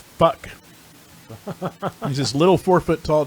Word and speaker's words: Phuc: And I worked with a guy whose name was PHUC, pronounced fuck.